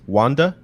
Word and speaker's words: Wander: And you see the main character, Wander, in Japanese it's Wanda, kind of stroll in on a horse carrying a maiden.